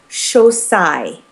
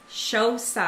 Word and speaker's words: Xocai: the product, and it's Xocai. Xocai. Just like Jerry Maguire, show me the money and sigh when you get the check is how we remember it. Xocai.